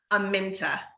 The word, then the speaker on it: Aminta: Aminta.